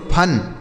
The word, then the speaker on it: fun: उसी तरीके से यप से हो गया फा, यू का उच्चारण आ हो गया और यन से न, यह लिखा गया दोस्तों फन, FUN फन।